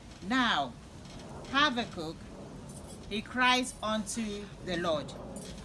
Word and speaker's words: Habakkuk: Some say it's Habakkuk, and that's the way I've always pronounced it. Some say no, it's Habakkuk, you know. And I went on this other website, and this man, he said he's a Hebrew scholar. He said those two ways are wrong. The right way to pronounce the name of this prophet is Habakkuk. Habakkuk.